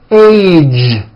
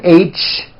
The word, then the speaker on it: age: Be sure to keep the voicing going throughout the whole word. Age. It's not H, it's age with a voiced ending.